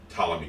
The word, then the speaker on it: Ptolemy: It is Ptolemy Gray. But Ptolemy Gray. Ptolemy. The T is silent.